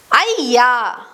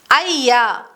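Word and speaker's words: ಅಯ್ಯ: Ya is pronounced as a double ya sound like in ayyo, ayyo, or ayya, ayya, which is an explanation or sometimes added to names.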